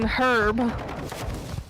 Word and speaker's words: herb: But why don't we pronounce the H in herb?